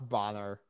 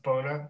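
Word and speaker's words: Bohner: And they're sat there going, Ralph Bonner. Oh yeah. No, it's pronounced Boner.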